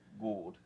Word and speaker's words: Gould: It's Gould. Like, No, it's not good. It's like could. It's not good. It could be though. Yeah, it's spelled like could. Yeah. But it's pronounced Gould.